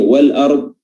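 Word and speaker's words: وَالْأَرْضِ: Kalau tadi asy-syamsiyah, Maka di sini wal ard adalah al-qamariyah, ya. Alif lam al-qamariyah di mana lamnya dibaca izhar, dibaca jelas, ya. Lamnya dibaca jelas dan hamzahnya juga dibaca jelas tanpa tasydid.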